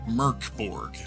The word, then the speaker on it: Mörk Borg: From the title page, Mörk Borg is Swedish for dark fort and is pronounced Mörk Borg.